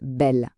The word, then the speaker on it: belle: Et un dernier, tout simple pour bien fixer l'idée, belle. On a deux L juste après le E et hop, ça se prononce belle.